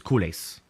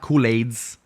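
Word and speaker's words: culés: sounds so awkward so here in america the common pronunciation is kules so it's not kool-aids all right kulas i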